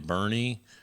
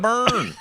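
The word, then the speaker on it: Boerne: a young man in Bernie burn it's not burn it's pronounced burn I'm telling you I've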